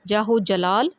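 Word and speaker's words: جاہ و جلال: تراکیب کے معنی لکھیں اور اعراب لگا کر تلفظ واضح کریں۔ دیکھ لیتے ہیں جی تراکیب اور اعراب۔ پہلا لفظ ہے ہمارے پاس جاہو جلال، جیم زبر الف جا، آگے ہے ساکن ہے،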